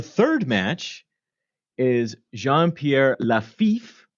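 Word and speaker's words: Lafitte: match is Jean Pierre laif pronounced like laif although he's a pirate and a thief and I'm not really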